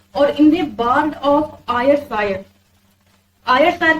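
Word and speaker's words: Ayrshire: एक Scottish poet है और इन बर्ड ऑफ आयर सायर आयर सायर की स्पेलिंग है ए वाई आर एस एच आई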